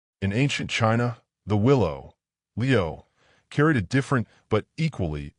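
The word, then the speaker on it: 留: The word for willow, Leo, sounds like the word Leo, which means to stay, to remain, to linger.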